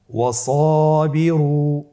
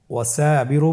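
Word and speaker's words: وصابروا: এরপরে সাদের উদাহরণ ওয়াসাবিরু। সাদের পরে কিন্তু আলিফ হরফটি রয়েছে, ওয়াসাবিরু। এখানে আপনি যদি ওয়াসাবিরু বলেন তাহলে উচ্চারণ বিশুদ্ধ হবে না।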